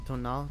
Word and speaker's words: Tonin: Also, the fact that Tonin is pronounced Tona just tells you everything you need to know about the French lang language.